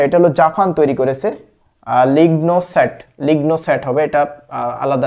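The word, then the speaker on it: LignoSat: Leone লিওনোসেট আচ্ছা এটা হলো জাপান তৈরি করেছে লিগনো সেট লিগনো সেট হবে এটা আলাদা আলাদা ভাবে প্রোনাউন্স করলে লিগন সেট জাপান তৈরি করেছে আচ্ছা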